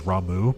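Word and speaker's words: Ramuh: no yeah that's right Rama was only an intermission I think only yui had Rama uh also I know his actual pronunciation is ramu but I refuse to say it that way uh blue Mage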